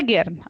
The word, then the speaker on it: gern: जी is pronounced as गे, so that's why गिर्न.